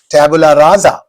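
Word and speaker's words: tabula rasa: Tabula raza. Tabula raza za not raza sa but raza za.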